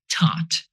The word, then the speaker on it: taught: And the last mispronunciation is taught. Someone taught you something, not thought you. It is pronounced with t sound.